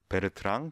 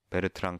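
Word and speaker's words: Bertrand: 정밀하게 얘기하는 게 바로 베르트랑 체비셰프 정리입니다. 이건 베르트랑 체비셰프 시어렘, 베르트랑 체비셰프 포스툴레이트라고 부르는 책도 있습니다. 포스툴레이트. 이거는 이 사람은 프랑스 수학자여서 베르트랑이라고 읽고요.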